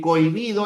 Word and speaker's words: cohibido: En cohibido. La H no cuenta. Por lo tanto, sería así. Cohibido.